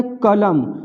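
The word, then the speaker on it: column: होता है इसको पढेंगे कॉलम यहां भी एम के बाद इन है तो एंड साइलेंट है इसको सीधे कॉलम पढेंगे नुक्कड़ नाटक तो कॉलम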